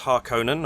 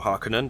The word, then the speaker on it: Harkonnen: House Harkonnen, or Harkonnen, depending on your pronunciation, who are the antagonists.